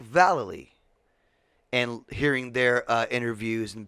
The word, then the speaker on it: Vallely: Rowley and the Mike but it's pronounced Jeff Rowley and Mike Vallely and hearing their interviews